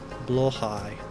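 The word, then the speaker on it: Blåhaj: Blowhigh, yeah. That's it. Thank you for the guide. The IKEA app does have a pronunciation guide for everything, but I just couldn't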